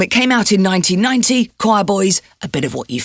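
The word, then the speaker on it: Quireboys: by the choir boys which is spelt q u i r e boys the album is called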